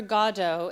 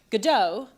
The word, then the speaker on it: Godot: though because of course in French you emphasize both of the syllables but once you change it into English you have to question are you gonna say Godot or Gordo it's a long and